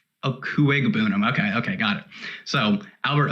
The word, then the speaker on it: Okuegbunam: It's Okuebunam, yes, but the G is actually pronounced, I believe. Okuegbunam.